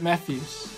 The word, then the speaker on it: Matthews: How do I pronounce Matthews? I pronounce it Matthews.